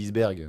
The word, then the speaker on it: iceberg: Non, parce que normalement, la prononciation, c'est iceberg, mais personne dit iceberg, en fait. Bon, y en a qui le disent. Hein.